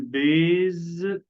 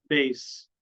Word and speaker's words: base: طبعا غلط نقول بيز، لكن هي بالاس. بيس، بيس، بيس.